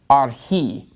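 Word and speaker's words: ἀρχῇ: So the accent is on the last syllable in this word archi.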